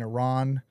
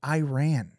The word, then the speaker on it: Iran: You cannot say Iran. Why? Because that's not how you say it. Iran. Iran.